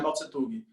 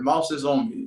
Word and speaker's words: Mao Zedong: Professor, não é Mao Tse Tung, é Mao Zedong, enfim, né? A pronúncia deles lá direito que eu não sei falar.